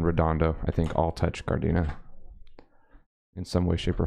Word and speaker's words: Gardena: town of city of Gardena or as it should be pronounced because it's a Spanish word gardenia in southern the south